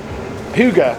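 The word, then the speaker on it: Hygge: I think it was the Hig. Is that how you pronounce it? Huga. Oh, Huga.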